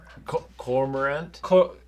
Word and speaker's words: cormorant: Cormorant?